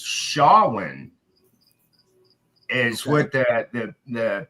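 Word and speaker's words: Samhain: It this has been going on for freaking uh I finally learned how to pronounce the word the right way. It's Shawin is what the the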